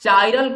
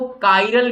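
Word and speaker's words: chiral: कुछ लोग इसे काइरल प्रोनाउंसिएशन करते हैं और कुछ लोग इसे चाइरल कहते हैं, तो चाइरल बोलो या काइरल बोलो एक ही बात है।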